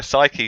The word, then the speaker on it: Psyche: I think is it Psyche? Is that how you pronounce? Yes, yeah. That's how I've been saying it. So yeah, Psyche for E9 as well.